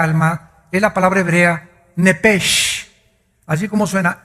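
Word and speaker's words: נפש: La palabra, la letra o las letras sh del hebreo se pronuncian en hebreo como J. Entonces se pronuncia nepej.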